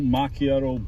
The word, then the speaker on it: macchiato: Can I get one of those caramel macchiato blizzard? What size? How about small? Is that how you pronounce it?